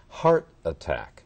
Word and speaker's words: heart attack: If you listen carefully to my pronunciation.You would remember that when we have two nouns together, the first noun has the special accent. Heart attack.